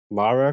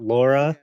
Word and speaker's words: Lara: I gotta say it's pronounced Lara Croft not Laura I I don't I